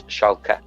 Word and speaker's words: Schalke: For some reason, I keep wanting to be calling Hoffenheim because you said Hoffenheim and Schalke. Hoffenheim and Schalke. Yeah, but it's not Schalke, it's Schalke.